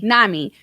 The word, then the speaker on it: NAMI: uh one of them is um is it pronounced name nami nami nami a-m-i yeah n ami so you can actually